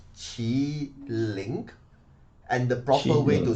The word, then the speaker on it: Qiling: time you know the the fun thing is the proper spelling should be q i l i n Queen teach it in in in Chinese language is chi link and the proper way